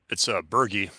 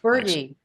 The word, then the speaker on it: Berge: It's Berge, not Burge. Berge, thank Thanks.